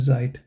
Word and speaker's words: Zeit: you have this site and then you have zeit in the beginning you might pronounce them like as I mean the pronunciation